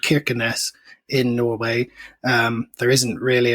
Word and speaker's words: Kirkenes: Yes, Kirkenes. Interestingly, the people there seemed to turn the first K into a sort of a sound a bit like a Russian H. So Kirkenes, many people seem to say, but...